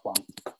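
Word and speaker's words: 黄: in this case is the character in Mandarin pronounced as Huang.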